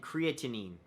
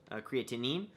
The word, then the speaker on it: creatinine: uh glucose levels and creatinine I believe that's how you say it creatine creatinine so sodium perfect and my